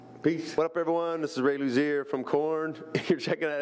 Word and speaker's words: Luzier: excited to be here i am talking to ray Luzier might pronounce that right that's right you love